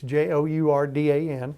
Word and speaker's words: Jourdan: building a new, more efficient, larger facility along Jordan, however you want to pronounce it. Very good. It's Jourdan.